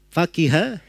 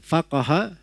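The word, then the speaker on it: فقه: Hanya saja Ibnu Hajar rahimahullahu ta'ala menyebutkan bahwa kata fikih dalam bahasa Arabnya itu bisa 3 bacaan. Bisa dibaca faqiha, bisa dibaca faqaha, bisa dibaca faquha.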